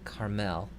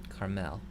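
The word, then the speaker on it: כַּרְמֶל: And here we have another silent schwa. So this word is Carmel. Carmel. In each of these cases, the schwa is silent. It just is holding a place under the consonant, but it is not pronounced.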